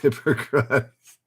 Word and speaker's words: Hippocrates: It's pronounced Hippocrates.